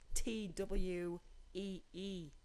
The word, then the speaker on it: Thuy: I guess so, because my parents decided to name me Thuy, and that's spell it Thuy. Exactly. Because I just Why spelled not? it TWEE.